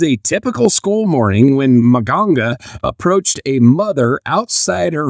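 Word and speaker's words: Mganga: So silent letter day. What's that? Yeah. Yeah. So in Omaha, Nebraska, 17-year-old Monga, and it's M G A N G A M G A N G A Manga Manga Manga Manga.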